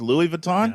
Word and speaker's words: Louis Vuitton: Louis Vuitton?